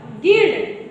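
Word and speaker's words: guild: कि नहीं है तो इसको क्या पढ़ोगे guitar गिल्ड जी यू आई एल डी गिल्ड तो ग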